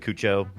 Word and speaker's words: Cuoco: Oh, I say it like she said Cuoco.